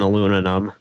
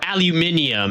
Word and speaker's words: aluminium: carbon fiber and aluminum, or aluminium, as the Brits would pronounce it. Yes, because we pronounce it correctly. Aluminium, not aluminum. Thanks for the There's follow. no O. There is no O in aluminium.